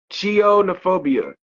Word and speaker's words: chionophobia: I'mma say it one more time and I'll spell it chionophobia this is C i o n o phobia